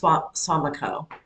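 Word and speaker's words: Suamico: Well, anyway, uh, in Swamico, I think it's pronounced Swamico, which is a little town up by Green Bay.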